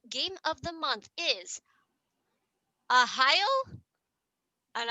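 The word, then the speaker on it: Arraial: is a heil and i hope i pronounced that properly it is spelled a-r-r-a-i-a-l but even diesel told me how to pronounce it in parentheses and i think they're trying to say ohio but this is a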